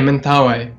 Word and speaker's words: Mentawai: Is that the correct pronunciation, Mentawai? Yeah, Mentawai.